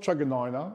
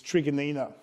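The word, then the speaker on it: Truganina: morang trigger Nina uh it's not chaganina it's people keep mispronouncing it's an Aboriginal name of of a group that used to own that land it's called it's trigonina Point Cook um drawn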